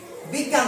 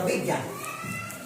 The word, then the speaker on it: বিজ্ঞান: শব্দ ধরে নাও আগে বৈকার্য ইয়ন জ্ঞান হ্যাঁ বিজ্ঞান ধরো বিজ্ঞান বয়সী বৈত্যয় আকার দন্তন এইটার উচ্চারণ ইয় বয় বিজ্ঞান হ্যা বিজ্ঞান বিজ্ঞান কেমন